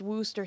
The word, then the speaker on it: Worcestershire: no one liked her Worcestershire sauce is pronounced Wooster sauce yes see whether or